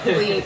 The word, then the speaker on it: Clive: Just write Clive, C-L-I-V-E, C-O-N-G-O. Clive, and that's .com. I thought it was Cleve. Yeah, but the pronunciation. Oh, the pronunciation, right. So the French pronunciation is Cleve, but for you Americans out there, it's C-L-I-V-E.